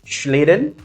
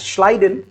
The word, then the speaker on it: Schleiden: One was Schleiden, and we can also call him that is Schleiden. It depends on the pronunciation.